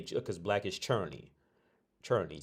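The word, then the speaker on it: černý: But you pronounce it churny because we're the only ones that say R's like an R.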